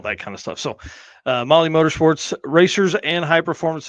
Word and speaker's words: Mahle: And for everyone listening to this, not watching, Molly is spelled Mahle.